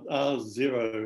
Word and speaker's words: R0: this talk uh thanks r zero is the american pronunciation so we probably should say r naught uh over here although